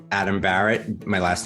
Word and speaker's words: Bahret: you can find me on LinkedIn it's Adam Barrett my last name is spelled b a re T my company is